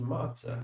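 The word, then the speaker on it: matzah: over okay yish Hebrew I have heard of this and it's pronounced matah I don't know why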